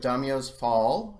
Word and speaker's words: Daimyos Fall: here at an interview with the creators of Domino's Paul is that how it's pronounced right yeah yeah great which is a